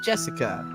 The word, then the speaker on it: Jessica: unlucky Star as me sharing the same kind of weird name you see it's pronounced Jessica she's dad's older brother's